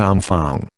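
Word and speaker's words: enfants: that the officer kept repeating to his men aung Fang said in re Irving briskly seizing the opportunity to re-establish himself as a French speaker means children spell dnfnts pronounced arm Fang children said Robinson incense a Elfie looking Lotto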